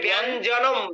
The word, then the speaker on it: ব্যঞ্জনম: এ ব্যঞ্জনম, ব্যঞ্জনম চ ব্যঞ্জনম। ব্যঞ্জনম, ব্যঞ্জনম। ওখানে টং, গয়ের কোনো উচ্চারণ নেই, কিন্তু জনম। গয়ের কোনো সাউন্ড নেই। ব্যঞ্জনম।